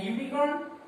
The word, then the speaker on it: unicorn: And unicorn, a unicorn, u, the same pronunciation u.